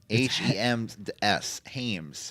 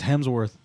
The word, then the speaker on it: Hemsworth: Hames. Why do you say it like that? It's Hemsworth.